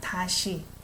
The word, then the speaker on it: 다시: 아무리 어두운 밤도 다시 낮. When I pronounce it, it's not she, it's a she, SH sound, 다시, with E vowel.